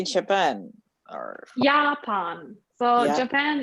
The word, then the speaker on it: Japan: Yeah, and Japan is Japan. So it's the same writing, only different pronunciation.